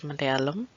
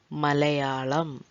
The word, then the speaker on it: Malayalam: the first word is malayalam malayalam the language that we are learning here in this channel and it is it should be pronounced in the same way it is written so if you treat